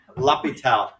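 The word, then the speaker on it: L'Hôpital: his name is the hospital that's how you pronounce his name lapitel now if you have friends in ap count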